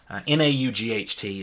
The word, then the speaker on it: naught: So we know that a must have been our P naught, N-A-U-G-H-T, naught. That's how they say it in Canada and the United Kingdom.